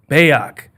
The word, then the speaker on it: Bayoc: So, and how do you say the last name? Bayoc. Okay. Bayoc, Cbabi, like everything's made up.